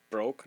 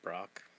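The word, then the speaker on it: Brokkr: Broke, not Brock.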